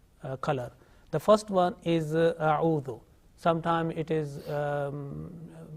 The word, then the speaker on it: أعوذ: Okay, make sure that alif, which is at the same time becomes hamza because of fatha. Okay, hamza alif. This is only for 1 second. If we prolong that one, then the pronunciation will be wrong.